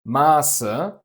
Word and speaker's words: Maße: Compare Masse, mass, with a short A, to Maße, measurements, with a long A.